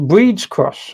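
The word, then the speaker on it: Brid's Cross: shop on today uh brids cross pronounced breeds cross okay uh cuz they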